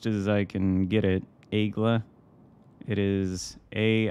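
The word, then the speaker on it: Aigle: I can tell you it's not igle people pronounce it that way but that is definitely not how it's pronounced hopefully team can hurt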